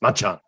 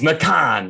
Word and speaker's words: Macan: often get tongue-tied with what we call Macan, and we've been told it's Machan. Machan, yeah. No, it's Macan. It's Macan. Macan.